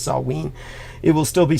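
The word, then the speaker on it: Samhain: think it was called samain but it's Celtic pronunciation is Sween it will still be Sween season uh when we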